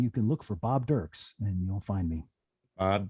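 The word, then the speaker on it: Dirkes: can look for bob dirks and you'll find me bob dirks it's d-i-r-k-e-s d-i-r-k-e-s it's uh spelled dirk s but it's pronounced dirks got it all right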